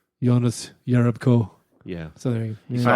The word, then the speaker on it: Jonas: we did turn out he's been called Jonas Jerebko his whole career he'd let the world know like two days ago you're right it's pronounced yonas you know epic oh